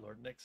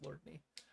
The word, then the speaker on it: Lordney: Lordney, that's how you say it. It's not Lord Nix, it's Lordney.